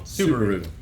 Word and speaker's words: Subaru: I should say that Subaru at first, I keep saying it wrong. Subaru. Like the car.